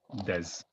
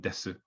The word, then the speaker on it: desu: Some people make this sound like des, rather than desu. If you said desu, this is fine. Desu, it's the same. Some people also drop the u sound at the end, so it becomes des or des. This is also fine.